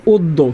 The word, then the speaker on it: অদ্য: এখানে দয় জফালা আছে, দয় জফালা থাকলে উচ্চারণ দ্বিত্ব হয়, হবে অদ্য।